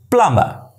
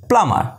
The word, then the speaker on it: plumber: m lamb correct nature it's plumba it's plummer p l u m b is silent plummer right plumber next